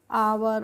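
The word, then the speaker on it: hour: है तो इसको हम हावर नहीं पढ़ते हैं इसको हम पढ़ते हैं ओ यू आर को तो क्या पढ़ते हैं इसको हम पढ़ते हैं आवर और आवर का मतलब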